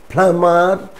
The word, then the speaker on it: plumber: time come come if these words are the root words or the roots then even if mb is in the middle of the word we will not pronounce be for example climber not climber climber plumber plumber not plumber dumb struck dumb struck no there shouldn't be any bar sound now when mb is